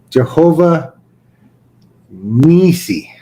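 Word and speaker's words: Jehovah-nissi: And Moses built an altar and called the name of it Jehovah Nasi. Jehovah Nisi.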